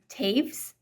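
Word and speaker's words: Toews: Anyway, I'm not super far into Women Talking right now by Miriam Taves. Might be Teves, but I'm pretty sure it was pronounced Taves, and I had no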